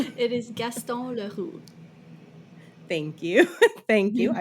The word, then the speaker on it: Gaston Leroux: It is Gaston Leroux, Thank you.